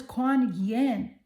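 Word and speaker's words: Kuan Yin: You got the goddess Quan Yen. Her name is spelled K U A N Y I N.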